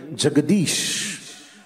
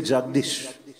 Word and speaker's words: Jagadish: Now we say Jagdish. You know, if we have to name, we wouldn't say Jagadish. Jagadish is a proper name and a proper pronunciation.